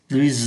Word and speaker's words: plus: nối và đọc nối nó sẽ là plus plus ancien plus élevé et son appartement est Plus